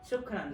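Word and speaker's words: شكرًا: Shukran.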